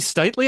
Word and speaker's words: Stitely: Is it actually Stitly? I realize I've never said your last name. Yeah, that's it. You got it. Stitley, it's good good to have you on.